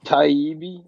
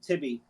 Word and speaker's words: Taibbi: Taibbi, I believe Matt Taibbi is how you do it. Matt Taibbi, right? All right, Matt. So Matt Tibby.